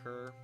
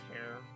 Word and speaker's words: Ker: I'm going with K-E-R. And like, and some of the playtesters read that as Care.